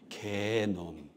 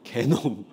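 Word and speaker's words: 게놈: 있겠죠 그래서이 몸의 설계도 를이 발음 잘해야 되는데요 개놈 제 욕하는 거 아니에요 개놈 그니까 사람들이이 몸의 설계도를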